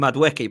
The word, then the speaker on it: Madueke: He says, the way Goonie says Madueke kills me. Love that. I don't even know what his name is. I call him Madueke, but I don't know if it is.